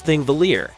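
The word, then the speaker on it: Þingvellir: the ecosystem number six ingvalier National Park Iceland pronounce thingvelier this National Park is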